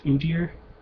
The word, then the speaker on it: Udyr: I think it's Udyr, U-D-Y-R, which is funny because to me it sounded like oh dear, like oh no, I'm up against Teemo.